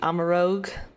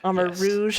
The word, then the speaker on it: Armarouge: Okay, this was also, I think, a pick of yours, the Amarogue. Armarouge? Amarouge. Yes. Oh no, I said it wrong too.